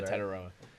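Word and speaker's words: Tetairoa: how to say his first name who McMillan ton taroa that's it yeah taroa but um I did see a lot of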